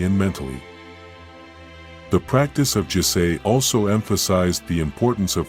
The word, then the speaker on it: jisei: Pronounced, Jisei.